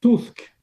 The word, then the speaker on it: Tusk: Vous êtes Je commence peut-être par la prononciation, c'est Donald Tusk. Donald Tusk. Alors oui, Voilà. c'est ça. On a envie de dire Trump d'ailleurs, Donald Trump, mais c'est Tusk.